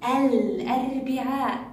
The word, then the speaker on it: الأربعاء: لاحظوا الأربعاء، ال يخرج صوتها طبيعي، نسمع صوتها، الأربعاء تلفظني.